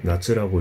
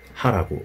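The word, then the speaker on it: 夏: 나랑 쯔를 결합해가지고 나츠라고 읽고 이게 여름이라는 뜻이 된다.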